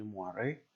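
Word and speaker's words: moiré: Di bawah ini ada yang namanya moire, bacanya moire.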